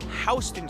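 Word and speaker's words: Houston: would you pronounce it it's pronounced hon street named after William HST who was a delegate from the state of Georgia to the Continental Congress another neighborhood you're likely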